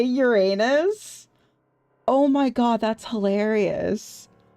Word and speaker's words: Uranus: Greek myth, they are the children of Uranus, god of the sky, It's and Uranus! goddess of earth. Did they seriously allow her to fucking say Uranus?